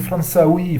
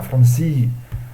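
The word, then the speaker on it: فرنسي: C'est pas les dialectes algériens disent Fransaoui, Fransaoui. Ça, c'est le dialecte algérien. Un arabe, un vrai arabe, il ne dira jamais Fransaoui, il dira Fransi.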